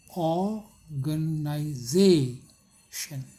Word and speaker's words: organization: For example, organization, organization, देखिए यहाँ पर फोनेटिक है, organization, ये ताला विषय है। The most prominent syllable is z, ये वाला z। This syllable is spoken with the greatest loudness, सबसे जोर से बोलते हैं।